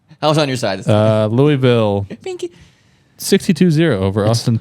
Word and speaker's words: Louisville: Louisville. It's not Louis. Louisville. Louis is. But that's how it's spelled, though. Louis is Louis or No, Louis. that's That's how also it's true. spelled, but it's how it's pronounced.